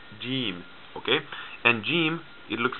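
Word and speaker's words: جيم: this group is called jim jim okay and jim it looks like this gene and jim it makes the sound like the english letter j j jim jim some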